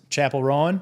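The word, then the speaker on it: Chappell Roan: How do you, Chapel Rowan?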